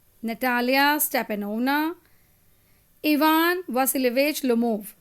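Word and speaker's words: Natalya Stepanovna: है बहुत सारे बच्चों को जैसे इसका जो प्रोनाउंसिएशन है वो है स्टेपेन स्टेपेनोवेक शुबकोव ठीक है नेक्स्ट है नटालिया स्टेपेनोवना नटालिया स्टेपेनोवना इवान वासिलवेज लोमोव तो तुम्हें अगर ये सारे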